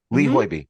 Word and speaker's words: Hoiby: So what is the driving force in picking this particular opera by Lee Hoiby, I believe it's pronounced? Hoiby. Lee Hoiby.